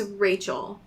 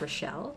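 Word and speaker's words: Richelle: that what I saw I believe it's called pronounced relle oh oh oh I think okay yeah wow okay um it's kind of like if Rachel and Michelle were like one name damn okay um when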